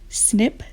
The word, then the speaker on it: SNP: times in class already snip or snp we pronounce it snip stands for single nucleotide